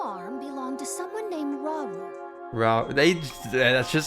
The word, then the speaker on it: Rauru: And learn that your new arm belonged to someone named Rauru. That's just how it's The pronounced.